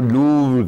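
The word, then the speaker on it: Louvre: है obviously London की, वो है लूवर, जिसको लूव कहते हैं, हमें तो वो प्रोनाउंस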